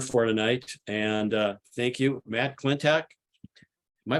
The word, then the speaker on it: Klentak: And thank you, Matt Klentak. Am I pronouncing your name correctly?